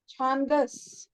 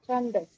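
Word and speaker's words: छन्दस्: It's not Chandas. It's Chandas. It's Chandas.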